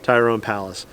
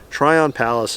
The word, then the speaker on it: Tryon Palace: here do yourself a favor and go visit tyrone palace it's i actually maybe i'm mispronouncing it's try on try on palace like so try on palace is the proper pronunciation i do apologize again